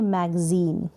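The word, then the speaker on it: magazine: जैसे यहाँ पर है ये मैगजीन, क्या है?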